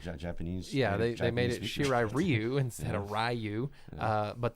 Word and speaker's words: Shirai Ryu: in the game i did like that they pronounced it correctly in this movie japanese yeah they made it shirai ryu instead of ryu uh but they didn't call